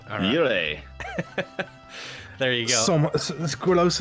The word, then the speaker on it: Jurre: Jurre. Jurre.